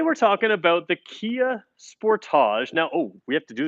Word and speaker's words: Sportage: If you're American, I say Sportage because that's what it's called in Canada and Australia and many other parts of the world. So please don't write in the comments that I'm saying it wrong. I'm in Brantford, Ontario, Canada, and this is how I have to say it. You can ask Kia Canada. They will tell you that I'm saying it correctly.